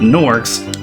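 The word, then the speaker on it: gnorcs: all of nasty norcs nors have a silent G in front of their spelling so step right this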